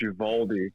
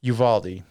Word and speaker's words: Uvalde: a shooting in Uvalde, Texas, and anytime there's pronounced Uvalde. Uvalde.